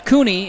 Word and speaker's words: Cooney: Jennings Cooney is the correct pronunciation.